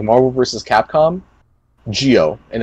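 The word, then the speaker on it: Gio: Capcom, Geo, and it's spelled G-I-O. So MVC, Geo, the M and the G are capital.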